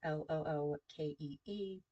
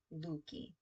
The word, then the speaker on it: Leuke: Okay, so of compromises in Luki, at least according to the way it's broken down, Lookee for the pronunciation guide, Luki.